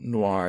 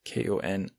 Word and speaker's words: Konior: Or, I realise now it's not noir, it's Konior. She's Polish, I'm afraid.